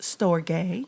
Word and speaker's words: storge: So the last one, it's actually pronounced storge.